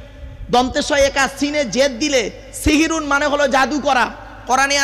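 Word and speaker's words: সাহরি: সেহরি নয় শব্দটা, শব্দটা সাহারি। দন্তেশয় একার আর দন্তেশয় আকারের পার্থক্যটা কি শুনে নিন। দন্তেশয় একা, সিনে জেদ দিলে সিহিরুন মানে হলো জাদু করা, কোরআনে আছে হাদা সিহিরুম মুবিন।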